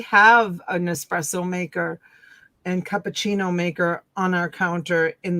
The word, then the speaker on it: cappuccino: My husband uses it once in a while if he makes cappuccinos. Cappuccino. Cappuccino. Cappuccino. Americans say cappuccino, but it's cappuccino.